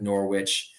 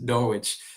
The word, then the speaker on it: Norwich: Oh, the W is silent.